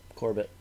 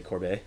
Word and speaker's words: Corbett: say your last name Corbett Corbett it's not french-canadian where you say corbeil no I'm kind of